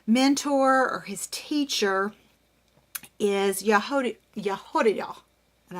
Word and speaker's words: Jehoiada: or his teacher is Jehoiada, and I'm probably butchering that, but that's how you say it, Jehoiada, and it's supposed to be down here in your throat.